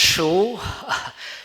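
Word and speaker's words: Shure: Okay, so just based on the comments from our previous speaker, so it's pronounced Shu.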